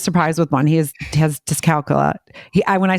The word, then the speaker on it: dyscalculia: So, but it is the correct way to say dyscalculia, but dyscalculia.